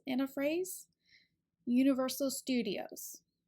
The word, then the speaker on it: Universal Studios: stress in a phrase Universal Studios usually the stew part is where we place the most emphasis or stress so it's